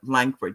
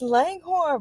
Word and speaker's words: Langhorn: Ladies and gentlemen, I'd like you to welcome to the show the one and only Langford. Did I say your name? I said it right. Right. It's Langghorn, but it's okay.